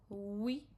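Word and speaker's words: oui: We O U Y is we.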